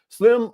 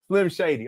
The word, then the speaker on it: Slim Shady: boys through his school my name is said like slim shade oh my bad Slim Shady okay I got you